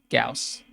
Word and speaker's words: Gauss: It's spelled this way, but it's pronounced Gauss.